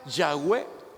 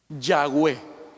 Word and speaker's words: Yahweh: tratamos de ser honestos, la pronunciación más correcta o más acertada, más cercana al nombre de Dios sería Yahweh. Póngalo, gracias, Dios lo bendiga, hermano. Eso sería lo más cercano. Yahweh.